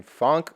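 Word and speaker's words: phonk: Reminds me a little bit of the cowbells that are typically in funk music. That's how you pronounce it, p h o n k.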